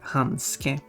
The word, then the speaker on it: handske: Handschuhe, which translates literally to handshoe, and that word has been imported to Swedish and it's pronounced handske.